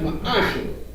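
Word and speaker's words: ma'aser: It means tenth in the Hebrew and is pronounced ma'ashah.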